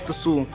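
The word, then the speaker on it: つ: गया गाइज आपका, और यहाँ तू होने की जगह तुसू। आप देख सकते हो लिखेंगे हम इसे, जब भी रोमाजी में लिखेंगे तो तुसू लिखेंगे, और पढ़ने के लिए मैंने हिंदी में भी लिख दिया गाइज तुसू। तो गाइज अब स्टार्ट करते हैं इन्हें लिखने से।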